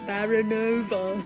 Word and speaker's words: Baranova: 3 and I'm baranova and see you said my surname correctly for baronova I never pronounce it in the Russian way I was pronounced in the British way and I romance Shadow